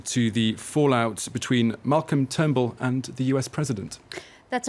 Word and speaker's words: Turnbull: Adding insult to injury, though, Spicer, the Sydney Morning Herald reports that Spicer appeared to mispronounce the Australian Prime Minister's surname during that announcement on Thursday. Apparently, he called him Trunbull or Trumbull.